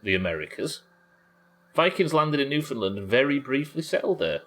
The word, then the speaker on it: Newfoundland: The new is pronounced like land. Oh, Newfoundland.